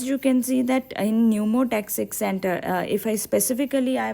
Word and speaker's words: pneumotaxic: It is P is silent, pneumotaxic center.